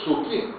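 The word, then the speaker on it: 好き: Agora, você coloca os dois juntos, se você não sabe, você vai dizer, isso aqui eu vou ler então ona e ko. Não, não é isso. Aí você vai ler suki, que significa gostar, certo?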